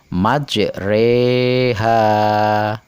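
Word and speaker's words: مجراها: yang disebut bacaan imalah yaitu menyodokkan Fatah pada kasrah sehingga berbunyi e Hai majroha dibaca majreha nah sekedar pengetahuan kita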